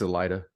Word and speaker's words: Elaida: his Prelude to the prologue which starts with Elena Elida how do you pronounce it um it's Elida so I I like that when we get